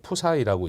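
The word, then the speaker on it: ψ: 그래서 요거 글자를 이제 글자로 읽을 때 이거는 그리스 문자인데 이거 푸사이라고 읽습니다.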